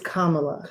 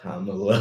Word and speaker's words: Kamala: They'll like I used to say Kamala, but it's the accent is on the first syllable, not the last.